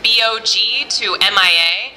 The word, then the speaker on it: BOG-MIA: of this show is bog to M.I.A and a lot of people have asked me how to pronounce the title of the show so that's what it is and the reason it's